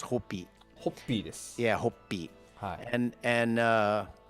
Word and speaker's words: Hoppy: you're going to think it says hoppy because h-o-p-p-y so it looks like hoppy but it's it's pronounced hopi yeah hope and and uh it's just a